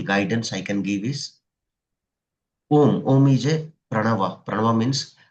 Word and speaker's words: Om: I can give is om is a pranava. Pranava means symbol of ishwara god. So Om is the universal sound made up of three syllables a U and M.